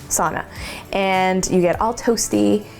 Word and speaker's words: sauna: to go into the so Knox home is how they say it sauna and you get all